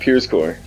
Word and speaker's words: Pierzko: How do you pronounce that? Pierscore. Like Pierscore. Like Pierscore, yeah. Pierscore. And that's Pierzko.